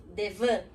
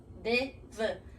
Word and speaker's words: devant: Enfim, qualquer passo que eu faça na minha frente vai ser devant. Devant, não é devant. Porque como a gente já falou antes, esse T no final do francês é mudo, devant.